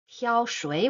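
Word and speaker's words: 挑水: Pronunciation for Tiaoshui first character with tone one, the second character with tone three.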